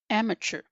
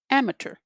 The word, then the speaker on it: amateur: Today's word has two different pronunciations. I typically say the first, amateur, amateur, amateur. Some people pronounce it like amateur, amateur, amateur.